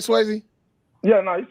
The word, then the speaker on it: Swayze: Am I saying that right, Swayze?